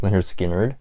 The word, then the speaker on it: Lynyrd Skynyrd: Skynyrd we have their debut which is called pronounced Lynyrd Skynyrd second helping final one we have